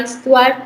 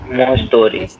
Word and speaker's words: histoire: More story. So no, story नहीं बोला मैंने इसको. Story नहीं बोला मैंने. I said histoire.Toire का sound है. ये Histoire.